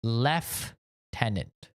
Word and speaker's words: lieutenant: Lieutenant l i e in the UK they say left tenant left tenant they spell it the exact same way l i e where